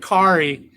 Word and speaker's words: Cari: So my mother's name was Cari, and we pronounced it Kari, but I could see that being Carrie too.